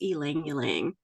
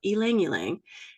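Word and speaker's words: ylang-ylang: I really love is El langang it's spelled y l a n g but that y you pronounce like an e so El langang it's a beautiful little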